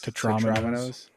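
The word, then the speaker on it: Tetrominoes: No, I've always heard Tetramino, but I want to pronounce it like Dominoes. There you go. That's why. Dominoes. Tetraminos.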